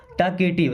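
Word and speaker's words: talkative: ही is very टॉकेटिव, he means वह, is means है, very means बहुत, टॉकेटिव देखिए एल साइलेंट है ना, टॉकेटिव का मतलब बातूनी, जो ज़्यादा बात करते हैं ना, बोलते ज़्यादा, उन्हें टॉकेटिव बोलते हैं।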